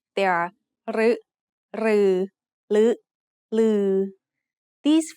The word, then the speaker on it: รึ: รึ is usually pronounced as a combination of รอเรือ and สระอึ However, there are some words in which it is pronounced as a combination of รอเรือ and สระอิ instead.